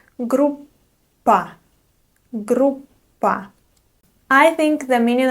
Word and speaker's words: группа: Groupa. Let's also talk about the double consonant in this word. You don't pronounce it like p. No. Instead, you try to pronounce it just a little bit longer.